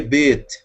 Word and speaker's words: Bet: Por que Bet? Som de B, porque tem ponto, ou dagesh, tá?